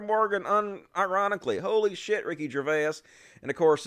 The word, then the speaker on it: Gervais: We're going to shit on Ricky Gervais a little bit. It's Gervais, right? Gervais? I don't know how you pronounce his fucking name.